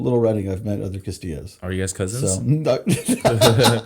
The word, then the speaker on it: Castillo: it's technically it's pronounced Castillo with the the two L's are a y right um unless you're